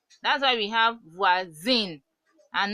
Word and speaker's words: voisin: So OI sound is wa. So voisin, voisin, voisin, voisin.